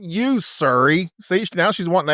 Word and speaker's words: Surrey: Surrey, not Surrey, for God's sake. became Surrey? Yeah, Surrey. Oh, not you, Surrey.